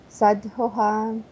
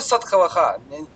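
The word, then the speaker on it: साधवः: Макшика, вранами чанти, дханами чанти, партхиваха, ниччиха, калахами чанти, шантими мичанти, садхуха. Очень хорошо, только садхавах. Да, садхава.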